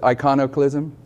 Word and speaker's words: iconoclasm: in Christian history like do you know what iconoclasm is I might be saying it wrong I iconoclasm I want to correct me on how to pronounce it iconic lism that's correct okay sometimes it happens what is